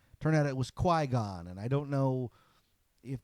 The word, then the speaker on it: Qui-Gon: I thought it was Qui-Gon. Turned out it was Qui-Gon, and I don't know if that's an improvement.